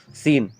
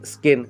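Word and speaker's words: scene: इसलिए यहाँ पे आप यहाँ पे स्किन नहीं बोलोगे, यहाँ पे सीन बोलोगे।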